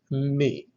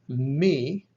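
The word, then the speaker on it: μῦ: Remember from our earlier discussion, this is the labial nasal, pronounced by putting the lips together and forcing the air through the nose, like M in the word moon. The letter is called me, has two peaks and a valley in between.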